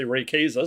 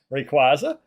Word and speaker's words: Rayquaza: Okay, I was going to say Rayquaza, so I guess I would say it wrong. Rayquaza.